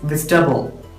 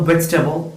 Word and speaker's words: vegetable: It is not vegetable. So കൃത്യമായി നോക്കിയാൽ 3 syllable ആണ് ഈ വേർഡിലുള്ളത്. First one is veg, second one is te, third one is ball. So vegetable, not it is vegetable. Vegetable.